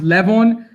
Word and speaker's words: Livan: It's Livan, but so it's Livan is the correct one. It's pronounced Levon, but when I would